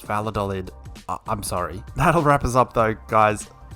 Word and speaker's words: Valladolid: It's Valladolid. I'm just going to say Valladolid because I don't want to try and pronounce it with a Spanish accent or saying Vallad because it doesn't work in my head, okay? So it's Valladolid.